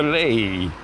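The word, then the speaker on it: Leie: The river Lei, I think I pronounced that correctly.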